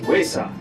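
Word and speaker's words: ᏪᏌ: Our Cherokee word of the day today is cat, which is pronounced waysaw.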